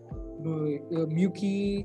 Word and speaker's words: MUWCI: Muki is actually it's the way we pronounce MUWCI, which is the short form for Mahindra UWC of India. So when I say if I mention the word Muki, so Muki means the UWC that's in India.